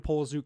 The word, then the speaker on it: Poliszuk: and as beautiful as a product as Brandon Poliszuk can and the people around him can. Yo, and hold on. Shout out for pronouncing my last name right.